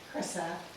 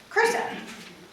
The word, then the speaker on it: Chrysa: Chrysa. Chrysa.